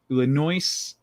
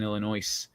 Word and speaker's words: Illinois: You don't pronounce the S. He left after I pronounced the S in Illinois.